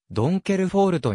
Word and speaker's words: Donkervoort: b 連 bv 通称ドンカーブートは手作業によるスポーツカーの生産を行うオランダの自動車メーカーオランダ語ではドンケルフォールトに近い発音になる創業者のヨープ